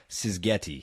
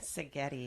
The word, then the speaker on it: Szigeti: Sgetti. I said that correct. Sigetti. Sigetti. The Z is silent, so pardon the butcher there.